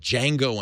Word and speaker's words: Django: think any movie called Django Unchained it's a great title right Tim D is silent that Batman of course